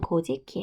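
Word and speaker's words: 古事記: 자 코삭 2 인데 일본 발음 분 고 지키 예요 그리고 일본서기 2호 숍이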